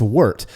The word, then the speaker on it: wort: Now, you'll hear a lot of people refer to it as wort. I don't understand that, because to me, warts are pesky things that you try to get off of your skin. Yeah. But it is pronounced wort.